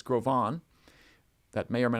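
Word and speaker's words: Gros Ventre: mispronounced in times past it's a French name it's not gross Venture it's grovan that may or may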